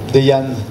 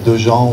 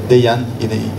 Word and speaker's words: Dejan: Re-signature aussi de Dejan Zemva. Voilà, c'est comme ça qu'on prononce. C'est pas Dejan ou Dejan. Dejan, il y tient.